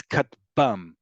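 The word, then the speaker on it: כטבם: But usually these will follow standard standard pronunciation rules in Hebrew, which is the last syllable is the one that's emphasized. So that's why it's katbam, right?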